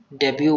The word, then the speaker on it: debut: डेब्यू हो, ठीक है, डेब्यू, DEBUT होता है, लेकिन डेब्यू बोलते हैं, टी साइलेंट रहता है, ठीक है।